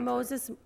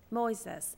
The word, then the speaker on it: Moises: I speak with Mr Moses um parente am I saying your name correctly close how do you say it well he says Moy says how do you say